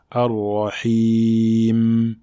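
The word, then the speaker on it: الرحيم: Il ne faut pas exagérer dans sa prononciation, et également il ne faut pas l'effacer. Donc on ne dit pas Ar-Rahim, Ar-Rahim, mais le juste milieu. Ar-Rahim.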